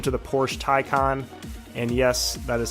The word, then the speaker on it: Taycan: It's since changed its name to the Porsche Taycan, and yes, that is how you say it.